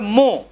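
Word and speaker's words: mho: দেখো ও এইচ এম যার সেটাকে উল্টে দিলে হবে এম এইচ ও, তাহলে উচ্চারণটা হবে মো।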